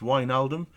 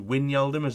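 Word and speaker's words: Wijnaldum: so i do apologize its wine aldim not to win y'all demers have been saying so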